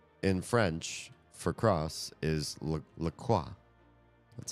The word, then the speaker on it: LaCroix: In fact, the company who makes the seltzer water says LaCroix, it rhymes with joy, somewhere on their website.